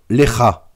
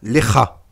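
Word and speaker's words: לך: allez lire en phonétique, si vous voyez KH, eh bien, cela se prononce R. Par exemple, Lecha. Lecha, en phonétique, s'écrira L-E-K-H-A. Et donc, on entend bien Lecha. Puisque c'est le Raf final, le Raf sophite.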